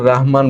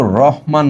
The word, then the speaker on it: রাহমান: দেয় সেটা হচ্ছে শামসের রাহমান বানানটা উনি কিন্তু রহমান নন রাহমান রাহমান র এর সঙ্গে আকার রয়েছে ঠিক আছে আমি দেখলাম যে